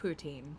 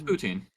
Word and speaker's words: poutine: It's not pronounced poutine, and anyone who has a stick up their ass will tell you that it's how it's actually pronounced. I don't give a fuck. What is though. how it's pronounced? It's using a French accent.